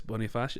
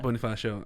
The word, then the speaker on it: Bonifacio: i was uh when you said uh andres boniface how do you pronounce it yeah bonifacio i i compared to him but i forgot